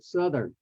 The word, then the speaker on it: southern: my choice would be the word Southern because it's start with the root word is south and it has that South and the soft th sound at the end with air coming out South but then with the suffix e RN added and it becomes Southern the South becomes s like V or suit okay and then the th change uh changes from soft th to hard th so Southern so to